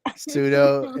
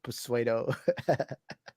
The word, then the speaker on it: pseudo: English and speak it Sudo is pronounced sudo oh I was reading